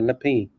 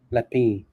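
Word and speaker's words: L'Epée: conjunction with uh lapel Le P sorry lepi is I think is how you pronounce it lepi they they partner with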